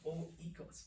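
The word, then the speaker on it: οἶκος: Okay, this is the word oikos. Oikos. Joy, I know. You're probably pronouncing it very differently in your head.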